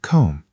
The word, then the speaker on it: comb: Notice that the letter B at the end of comb is completely silent. You pronounce it like comb.